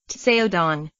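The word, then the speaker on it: Caodong: Two special Chan meditation methods, derived from the Kadong, pronounced Tseodong, and Linji traditions, are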